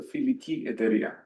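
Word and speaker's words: Φιλική Εταιρεία: The can you pronounce the Greek version? It's the filiki beautifully said the filiki etaria of fenario Greeks mainly fenario Greeks that ignited Greece's struggle for independence.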